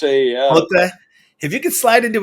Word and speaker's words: Motte: How's that pronounced again? Motte, yeah. Motte.